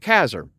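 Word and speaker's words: Casar: Campground in kazer I'm going to say it's kazer uh North Carolina it was supposed to actually be Caesar but the name was misspelled long long ago and now they just pronounce it kazer and so uh but other than that we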